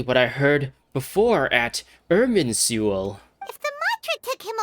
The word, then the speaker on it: Irminsul: Irminsul, that's how it's pronounced.